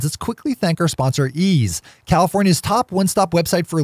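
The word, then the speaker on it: Eaze: with a visit to ease calm which again is spelled ei ze that's easy calm all right top of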